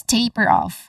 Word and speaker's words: taper off: All in all, this is taper off. Stressed on the first syllable.